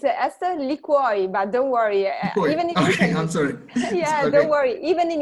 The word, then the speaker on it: Ester Liquior: Did I pronounce her name right, Esther? Almost. It's Ester Liquiore, but don't worry.